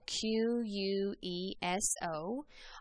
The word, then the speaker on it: queso: that means cheese and that q u makes the k sound that's why cheese is pronounced queso now the letter r is